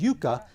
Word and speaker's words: yucca: His lunchtime snacks included corn nuts, the root of the yucca plant, which natives pronounce as yucca, and even prickly pear.